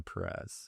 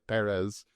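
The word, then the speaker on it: Pérez: say anything about Emilia Perez. I think I put the emphasis on the first syllable because it has the accent mark. My wife said that was correct, and she speaks Spanish for a living.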